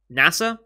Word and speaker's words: Nasa: starry sky in japanese but whose name is pronounced as nasa i'm going to get i guess it's literally pronounced as nasa the space organization um on on the